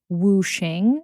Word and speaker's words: wuxing: I know that you are from South Korea, or your family is, but this is the Chinese concept of wuxing. Is that correct? That's correct. And of course, every East Asian country pronounces wuxing their own way.